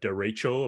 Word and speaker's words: derecho: We had a derecho, apparently that's how you pronounce it, a derecho storm.